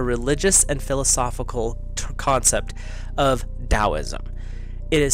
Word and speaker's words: Taoism: that drives me nuts it is spelled t-a-o-i-s-m Taoism but it's said with the hard D sound so it's almost like a DT and when you look it up phonetically that's how it's said uh there are people